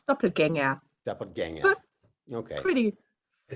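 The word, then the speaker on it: Doppelgänger: Did I pronounce doppelganger correctly? Pretty much. It's actually, if you we have this funny letters with the two dots, the umlauts, so it's an it's doppelganger.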